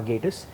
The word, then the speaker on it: Gatiss: and very simply at Gatiss. By the way, for all of you out there who've been mispronouncing his name for years, that's how it's pronounced. I got that right? Just think gay.